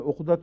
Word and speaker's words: عقد: کے بعد، عقد نکاح اردو میں تو عقد کا تلفظ ہے، عربی میں عقدۃ النکاح چونکہ آتا ہے، اس لیے پیش سے نکاح کے تعلق میں پیش بھی ذہن زبان پہ آ جاتی ہے، ورنہ اصل تلفظ عقد ہے، نکاح کا نام عقد